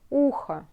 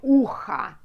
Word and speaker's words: ухо: мое правое ухо, ухо, ухо. So, you can say ухо, but when you pronounce it, it's like а at the end. Like а. You know? Ухо, ухо, а. But not like ucha.